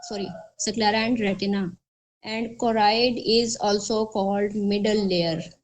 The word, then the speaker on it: choroid: इसको सीएच से ये शुरू होता है। तो इसको चोराइड नहीं पढ़ना है। इसको कोराइड पढ़ना है। एच साइलेंट होता है।